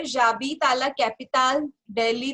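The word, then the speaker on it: j'habite: We know H जो है वो एक साइलेंट है, एंड ऑल्सो हम इसको फिर कॉन्ट्रैक्ट कर लेते हैं, तो this will become जाबी. Okay. So this is हाउ we write in French जाबी.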